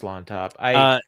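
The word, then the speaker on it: Llontop: I don't know how you pronounce the double L there at the beginning. It's just Lontop.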